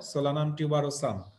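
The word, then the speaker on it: Solanum tuberosum: Solanaceae ফ্যামিলির যে important crop প্লান্টগুলো আছে তাদের সাইন্টিফিক নেম পটেটো, সোলানাম টিউবারোসাম, উচ্চারণটা মনে রাখবা, আমি যেভাবে উচ্চারণ করছি সেভাবে মনে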